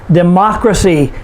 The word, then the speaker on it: democracy: g y for example democracy de macra see four syllables we put the stress on the third to the last syllable which is ma democracy uncertainty uncertainty four